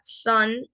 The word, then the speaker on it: son: Y la palabra son, que es hijo, se escribe S-O-N. Pero ambas se pronuncian prácticamente iguales.